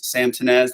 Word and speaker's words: Sam Tinnesz: And yes, Sam Tinnesz, that's how you say it.